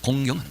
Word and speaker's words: 공경: 공경하는 거예요. 공경하는 거. 그럼 그 발음 잘해야 됩니다. 공격하는 거 아닙니다. 공경해요. 공경.